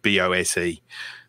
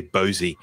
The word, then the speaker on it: Bose: how you pronounce it, BOSE. Do you pronounce? Bose. Yeah, we say Bose as well. I've heard people say Bosey, so I just thought I would clarify that. But we definitely it's like Bose.